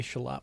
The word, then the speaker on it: Charlotte: We say Charlotte without the R, for those of us.